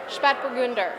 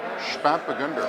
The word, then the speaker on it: Spätburgunder: Spätburgunder. Spätburgunder. Spätburgunder. Spätburgunder. And now you're really pushing me to say my bad German pronunciation slowly. Spätburgunder.